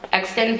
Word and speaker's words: Exton: Daniel will be attending Universal Technical Institute of Exton, Pennsylvania. Did I pronounce that right?